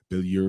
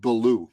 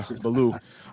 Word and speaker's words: Billou: But my last name pronounce it Belaloo. It's simply. Oh, sorry. I'm I'm pronouncing like it's a French last name. Uh Belaloo.